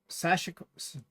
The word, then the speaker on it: sashiko: But I'm going to intersperse it with some sashiko, Sashiko.